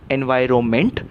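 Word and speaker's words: environment: is also progress so correct word is correct pronunciation is एनवायरनमेंट और एनवायरनमेंट से बना एनवायरमेंटल लेकिन कुछ लोग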